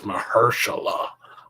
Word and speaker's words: Mahershala: so stupid don't you know his name is mahershala she didn't clap it out for her she